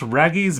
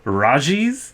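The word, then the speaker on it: Raggi's: Raggy's. It's like a double G. It's from Australia. Who knows how they pronounce it over there? No, you know what? It's Australia. It's probably hard G.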